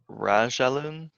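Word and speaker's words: رجلٌ: So you pronounce it more as like jewelry than you do like jewel, like the J sound. It depends on where you are. In classical Arabic, it's ja, but you get a lot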